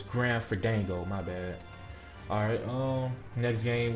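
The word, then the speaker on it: Grim Fandango: I think I said again, the name wrong. It's Grand Fandango, my bad.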